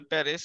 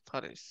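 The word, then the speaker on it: Paris: Finland ফারিস প্রথম প্যারিস সবাই বলে প্যারিস আসলে হবে হচ্ছে ফারিস ফারিস ফারিস ফারিয়া না ফারিয়া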